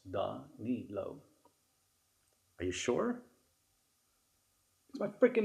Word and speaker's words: Danilo: really not that hard it's done neat low are you sure my